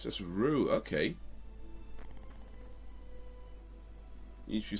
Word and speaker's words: Ryu: Like, the first time I ever saw it, I said Ryu. But then, I can't remember where it came along, but I think somebody was telling me, I've read it, or read somewhere that's actually pronounced Ryu. But, okay, Rue.